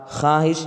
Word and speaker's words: خواہش: نہیں جا رہا ہے۔ خواب، خواہش اس میں واو ہے لیکن واو نہیں پڑھا جا رہا ہے۔ خواہ اس